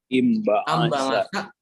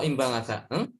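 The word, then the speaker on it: انبعث: Ambangasa atau imbangasa? Imbangasa. Ya, kenapa imbangasa? Ba-nya kasroh. Ya, huruf ketiganya patah. Ya. Huruf ketiganya fathah, maka dia dibaca kasroh.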